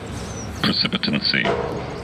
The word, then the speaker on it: precipitancy: Precipitancy. Precipitancy. So, precipitancy, I mispronounced it. So the right pronunciation is precipitancy.